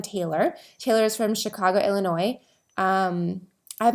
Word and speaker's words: Illinois: I realized that and I think I'm saying it right because I know there's an S at the end, but Illinois, I think it's Illinois.